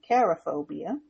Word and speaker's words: cherophobia: So today's topic is cherophobia, or you may say cherophobia, and that's spelled Cherophobia.